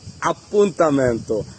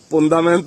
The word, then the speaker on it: Appuntamento: বিভিন্ন বাক্য তৈরি করব আর আজকের পরে কিন্তু আর ভুল উচ্চারণ পন্দামেন্ত বলব না এপয়েন্মেন্টকে বলব আপু তানন্ত ভালো লাগলে অবশ্যই ভিডিওটি